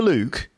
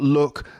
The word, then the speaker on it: Luke: Luke, that's Luke. Right? Not look, not luck, not like, or anything else. And I've said that before too, but I have to keep saying it because people always get my name wrong. It's Luke, Luke, like Luke Skywalker from Star Wars.